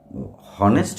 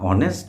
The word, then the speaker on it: honest: তাহলে যেহেতু ওটা হনেস্ট হয় না, অনেস্ট হয়, তাই ওটার আগে আবার অ্যান বসে।